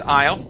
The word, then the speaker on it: aisle: All right, so the word is aisle. Okay, the AI at the very beginning makes an I sound. The S is silent.